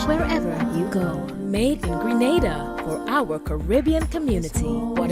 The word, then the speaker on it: Grenada: So today, like we German say, we are in Granada, but I heard in English it's called Grenada. Say it right. Grenada. Say it right. Grenada. That's right. Grenada. There we go. Say it right. It's Grenada. It's not Granada, it's Grenada.